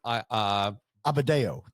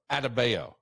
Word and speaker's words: Adebayo: It's just that I saw someone who, and we'll get into Bam Amadeo. I don't think that's how you say it. Amadeo. It's not. Wolfgang Bam Amadeus Mozart. Yeah, it's Bam Amadeo. Adebayo.